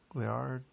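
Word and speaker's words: Laird: L superfood creamer um I'm probably pronouncing that wrong leard lard Hamilton lard Hamilton I don't think his name is lard it's l a i r d lard lard is probably lard Hamilton um he is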